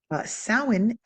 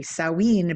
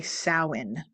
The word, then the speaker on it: Samhain: The letters do not necessarily represent what we think they represent. So you're going to say Samhain, okay?